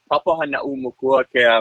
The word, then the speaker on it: Papahānaumokuākea: It's pronounced the Papahānaumokuākea Marine National Monument.